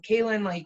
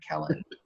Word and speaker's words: Kellen: And then Kaylin, how did you get, I said your name wrong, I'm sorry, Kellen.